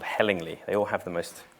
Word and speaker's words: Hellingly: 2009 uh which was somewhere near Hastings called hellingly they all have the most it's actually pronounced helling lie but um they all have the most incredible